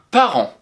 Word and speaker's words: parent: Et enfin, attention, il y a une lettre muette à la fin de parent.